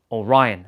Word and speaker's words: Orion: Orion.